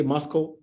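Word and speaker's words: MoSCoW: also there something called the mosco framework which is mscw but we say mosco so we can pronounce it right so the mosco means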